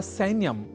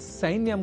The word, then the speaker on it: सैन्यम: करना होता है आवश्यक, अर्थात सैन्यम को सैन्यम इस रूप में हमें नहीं उच्चारित करना है, क्योंकि संस्कृत एक ऐसी भाषा है जहां जैसा लिखा जाता है वैसा ही बोला भी जाता है।